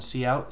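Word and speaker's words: cout: out STD colon colon see out see out that's how we we say it like SE dash out it's seeing out hello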